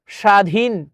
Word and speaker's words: স্বাধীন: কোনটি হবে দেখি আমরা স্বাধীন স্বাধীনের শব্দটি ব ফলার উচ্চারণ হবে না দেখ স্বাধীন আশাদন এটা